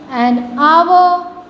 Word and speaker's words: hour: Everybody know an hour, an honest, an honorable man. Then the h will be silent.